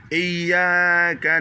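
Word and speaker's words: إياك: Ici, j'ai mis 2 Y et 2 A. Ça veut dire cette syllabe là, non seulement le Y doit être dur, mais le A aussi doit être une voyelle longue.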